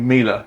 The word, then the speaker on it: Mila: And the funniest thing of all was that I can't remember how I eventually worked out it is supposed to be Mila, rhymes with Sheila.